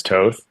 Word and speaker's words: Toth: way, but it's actually it's Toth in European, but I go by Toth just because growing up, it was so easier for Americans to pronounce Toth than Toth. So I just generally went with Toth instead of Toth, but Toth is technically correct.